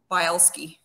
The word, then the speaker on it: Bileski: there so google boleski um and it's spelled bile as in like and ski so bile ski bielski yeah um so